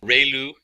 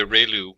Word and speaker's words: ReLU: function we have the relu it's pronounced like Ray the ray from the Sun and Lou like a name so relu function and we have